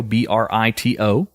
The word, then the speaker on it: Brito: Brito, Brito, not to be confused with other pronunciations of the word.